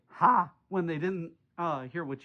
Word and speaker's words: ha: It's spelled ha, and it's pronounced by saying ah with your mouth loud and wide. Norwegians say ha when they didn't hear